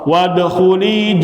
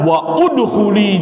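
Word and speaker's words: وَادْخُلِي: jangan dibaca Bacanya fansab wadkhuli jannati jangan dibaca waudkhuli jannati jangan ya Alif berkorban Walaupun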